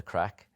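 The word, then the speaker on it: craic: you aren't just like, up for the crack.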